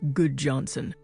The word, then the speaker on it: Gudjonsen: My name is Goodjohnson, spelled Gudjonsen, but pronounced Goodjohnson.